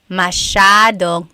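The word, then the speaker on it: masyado: do you pronounce mashad mashad means a lot so the s y a is a Sha Sha sound Mas yep EJ said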